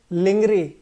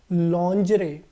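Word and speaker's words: lingerie: देखिए बहुत सारे लोग इसको पढ़ेंगे लिंगरी। क्या पढ़ेंगे? लिंगरी। लेकिन क्या ये वाकई में लिंगरी है क्या दोस्तों? नहीं। क्या है करेक्ट प्रोनाउंसिएशन? तो करेक्ट प्रोनाउंसिएशन है दोस्तों लॉन्जरे। क्या है करेक्ट प्रोनाउंसिएशन? लॉन्जरे। दोबारा एक बार बोलिए, लिंगरी नहीं है, क्या है? लॉन्जरे।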